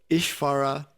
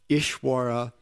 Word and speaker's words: Ishvara: of the alphabet, but in some parts of India, they pronounce it V, and in some W. So Ishvara, Ishwara, Swami or Swami, it's one letter pronounced different ways.